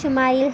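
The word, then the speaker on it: ישמעאל: خوشخبری سنا دی گئی۔ عبرانی زبان میں اسماعیل کا تلفظ شمائل ہے۔ شما کے معنی ہے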